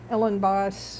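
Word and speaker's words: Elenbaas: Ellen Boss, uh, is spelled E L E N B A S.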